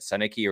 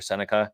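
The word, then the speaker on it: Sennecke: But let's go into this player, and I'm going to be talking about Beckett Senica or Seneca, however you want to pronounce it. I've heard it both ways.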